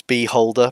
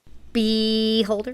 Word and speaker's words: Beholder: uh and they yeah they butchered the pronunciation because it's Beholder but you know beeh holder be holderer who holds